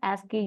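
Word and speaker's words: ASCII: exchange over here right so we'll pronounce it as asky here so in this so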